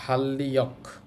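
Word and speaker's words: 달력: better তারপর আছে দেখেন ধা দিগু শুরুতে আছে এজন্য ধ আর এই রিউল রিউল মিলে লল হবে এটা একটা ভাতসিমের নিয়ম তাহলে ধাল্লিয়ক উচ্চারণ হবে ধাল্লিয়ক অর্থ হচ্ছে ক্যালেন্ডার তারপরে আছে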